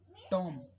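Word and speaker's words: tomb: ऐसे ही एक वर्ड होता है टॉम, टॉम, मकबरा, मकबरे, किले को कहते हैं हम टॉम, तो उसमें आप क्या बोलोगे, इसमें बी साइलेंट।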